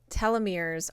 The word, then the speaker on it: telomeres: Okay, so the word is pronounced telomeres, and telomeres are at the end of the chromosomes.